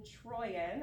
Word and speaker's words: Trooien: My name is Troyan. I have the pronunciation right there.